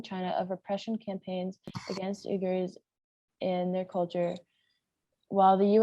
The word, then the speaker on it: Uyghurs: I feel bad, I don't know how to pronounce this. Uyghurs.